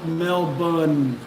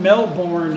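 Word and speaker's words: Melbourne: I'm like you know like saying Mel Mel bun we have Mel born an American it's spelt exactly the same as Mel bun but if I die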